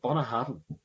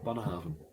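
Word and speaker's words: Bunnahabhain: Bunnahabain. Bunnahabain. Spelt so differently to what you'd expect how to say it. But yeah, Bunnahabain. Okay.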